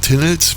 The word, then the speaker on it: Taynuilt: Und deshalb gibt es hier beim Einzug in Tinneld, wie der Ortsname übrigens korrekt ausgesprochen wird, nicht seine Hauptstraße zu sehen, sondern nur das Neubaugebiet am östlichen Ortsrand.